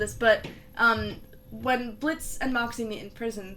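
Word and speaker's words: Blitzø: But, when Crimson meets Blitz, he says, you must be Blitz with the silent O.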